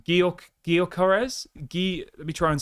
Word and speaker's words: Gyökeres: Gyökeres?